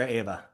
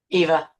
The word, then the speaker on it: Eva: want to make sure, do you say it Eva or Ava? Eva.